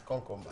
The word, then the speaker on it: Konkomba: No, yeah, but you know, you pronounce it. It's Konkomba. Kokumba.